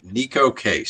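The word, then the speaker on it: Neko Case: So, this is Neco Casease. Is that how you say it? This is Nico. Nico. Okay. Nico Casease.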